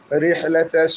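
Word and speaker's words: رحلة: রিহলা, রহাদের রিহ, এই হাটা হইল 2 নম্বর গলার মাঝখান থেকে উচ্চারণ করব। আইন হা, এই হাটা যদি সঠিক উচ্চারণ না করি তাহলে আমাদের অর্থ চেঞ্জ হয়ে যাবে, কারণ হা দুইটা আছে, এই জন্য এই হাটা আমরা সঠিক উচ্চারণ করব।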